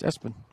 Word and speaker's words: Espen: It is spelled ESPN, right? So, I wonder about the Family Choice in that. That's awesome. But it's Espen.